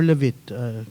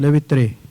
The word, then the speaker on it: Levitre: Is it Levitre or Levit? Can you pronounce that correctly? Or at least, yeah. Either was fine. Everyone says it wrong, so Levit is fine. Levitre.